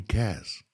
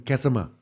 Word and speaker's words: Caz: But the way she said it, bro, in the hood, no one could pronounce my name properly. They called me Kasama. Kasma. I'm like, my name's not Kasma or Kasama.